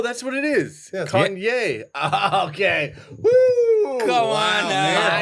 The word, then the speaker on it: Kanye: Kanye.